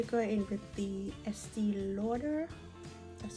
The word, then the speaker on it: Estée Lauder: now i'm going to go in with the estee lauder that's how you pronounce it and the clinique is clinique